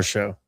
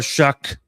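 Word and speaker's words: Shough: So the main concern is quarterback ability from Tyler Show. Hey, that's the best quarterback out of that draft. And Tyler Show, Chuck. My apologies. You're right. Tyler Shuck.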